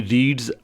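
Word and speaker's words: read: तो अब रीड की सेकंड फॉर्म जो है वो रेड है स्पेलिंग सेम है लेकिन उसको बोलेंगे हम डिफरेंट जो है वो उसके प्रोनंसिएशन के साथ तो शी रेड अ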